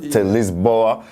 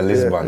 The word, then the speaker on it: Lisboa: So it went from changes to Lisboa that's the Portuguese pronunciation? Lisboa, yeah. So in English we just say Lisbon.